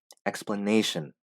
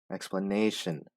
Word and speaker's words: explanation: Explanation. Explanation. The stress is on this syllable. Explanation.